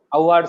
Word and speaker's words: Avhad: How do you pronounce? Award, sir. It's in Marathi, sir.